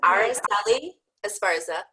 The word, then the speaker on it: Araceli Esparza: name for me again cuz I just probably butchered it those are eggs Araceli Esparza thank you and Araceli is the founder and